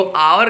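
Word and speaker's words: hour: इन एन आवर, तो आवर का देखने पे भले ही लग रहा था कि एच है, हम अ लगाएं, लेकिन इसका प्रोनाउंसिएशन जब हो रहा है तो इसे आवर बोल रहे हैं और पहला साउंड अ होगा, तो इसलिए यहाँ क्या लगाएंगे?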